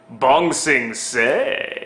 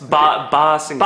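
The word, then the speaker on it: Ba Sing Se: How do you say it? Bong Sing Say. It's Ba Sing Say.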